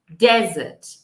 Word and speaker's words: desert: Desert, desert, desert vai ter esse som forte no começo da palavra.